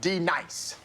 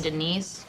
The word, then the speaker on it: D-Nice: Now, D nice. Do you mean Denise? Son of a... You say your name right now. Denise? Say it right. Denise. Correctly. Denise. Right. Denise. Right. D-nice. That's better.